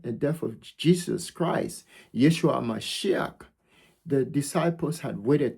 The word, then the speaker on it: Yeshua: I often say Yeshua Hamashiach aka Jesus the Christ.